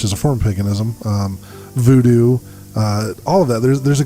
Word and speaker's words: voodoo: And she actually is a practitioner of voodoo, or she says VooDoo is the proper pronunciation. I was going to sit down with her and actually do an episode on this with her, but because of the lockdown, voodoo rhymes. It has to be voodoo because it rhymes.